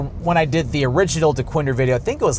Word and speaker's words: Dequindre: it correctly because it looks like it says Dquendre or or or Dquindra where it's just pronounced Dwinder Road or Dwinder.